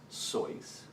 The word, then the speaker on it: Seuss: long-winded or abstruse well my dad always said it's pronounced soys and since he knew German I figured he was precise and since Seuss could be insightful while